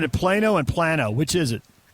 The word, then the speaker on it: Plano: Hey, we got Texans pronouncing it Plano and Plano.